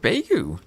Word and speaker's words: Beigu: Beu making this interesting. Rhymes with Wu beef.